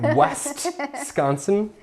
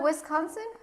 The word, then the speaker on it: Wisconsin: you mean West sconsin n like what like westconsin is that how it's spelled isn't that Wisconsin I am I'm a I'm like a Wisconsin